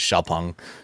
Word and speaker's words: Xpeng: The proper pronunciation is Xpeng.